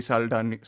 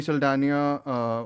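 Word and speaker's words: Saldaña: Until we mentioned the next category, which is best actor in a supporting role, was won by Zoe Saldana. How do we pronounce it?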